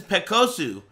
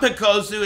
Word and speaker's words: Pekos: When they introduced him to me, they said, "This is Pekosu." And I was like, "Oh, nice to meet you, Pekosu." But it's not Pekosu, it's Pekos. That's just how they say it.